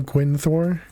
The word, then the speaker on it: Gwynthor: How do you say your name? I've called you Gwyn in chat, but I have no idea. I don't remember hearing you pronounce it. The second way, Gwynthor. Gwynny is good too.